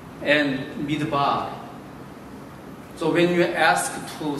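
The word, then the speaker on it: מדבר: Then, desert, desert, desert, desert in Hebrew, midbar, just pronounce, midbar, dabar, midbar.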